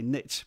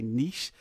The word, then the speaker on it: niche: I know most North Americans say niche, but as a European, I'm going to say niche.